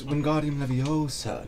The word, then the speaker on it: Wingardium Leviosa: It's Wingardium Leviosa, not Wingardium Leviosa.